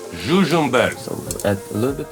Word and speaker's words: Žužemberk: Oh, let's pronounce that again. What? Žužemberk. Žužemberk.